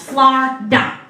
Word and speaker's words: Florida: See, down here in Florida, that's right, it's 2 syllables, Florida.